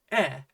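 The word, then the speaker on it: ヘ: So in that very specific case, you could write katakana he and have it be pronounced e, but they look identical anyway, so it hardly matters.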